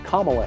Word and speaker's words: Kamala: name of the democratic vice presidential nominee is kamala harris i apologize for mispronouncing that earlier have a great night